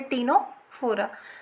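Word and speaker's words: Ctenophora: ठीक है, इसमें भी सी साइलेंट है तो इसे हम पढ़ेंगे टीनोफोरा।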